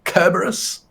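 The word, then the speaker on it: Cerberus: dirge of kerberos today with a hard C kerberos how you like that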